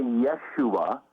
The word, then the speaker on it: Yeshua: the name of Yeshua I spelled with a J like Joshua but we would say Yeshua and so it's the